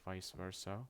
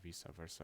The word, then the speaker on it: vice versa: of the woman or vice versa or Vis Versa which is technically the correct pronunciation considering the the letter E in Latin but having that is